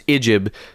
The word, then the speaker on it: Ijib: His name is Ijib, spelled IJB, but pronounced Islamically IJIB.